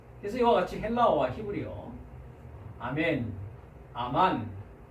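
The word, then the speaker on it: אָמֵן: 그런데 히브리어로 가면 우리가 히브리어는 아직 공부를 하지 않았습니다만 발음은 똑같습니다. 아멘 하고 발음합니다. 아멘.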